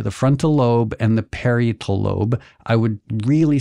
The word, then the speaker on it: parietal: frontal lobe and the parietal lobe I would really sound smart if I knew how to pronounce period I think it's parietal really okay yes did I